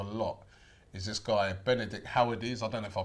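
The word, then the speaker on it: Höwedes: is this guy Benedict howedes I don't know if I pronounced that right her is okay her is I forgot in Germany W pronounced as a v her is well when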